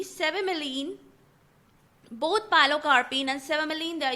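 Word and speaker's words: cevimeline: to talk about two drugs pyo carpine and s miline c v i m e l i n e s miline both pilocarpine and sealine they used to treat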